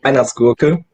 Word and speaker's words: Weihnachtsgurke: Yeah, we would pronounce it Weihnachtsgurke. Bless you. Yeah. Can you say that again? For us dumb Weihnachtsgurke. Americans. Weihnachtsgurke. Vine with a V.